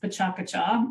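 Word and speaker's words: PechaKucha: not going to say it correctly I'm sure petcha Kucha yes it's pronounced technically they tell me it's pronounced pachakacha and that means chit chat in Japanese okay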